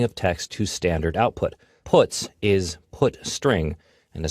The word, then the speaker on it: puts: They are pronounced: printf, putchar, and puts.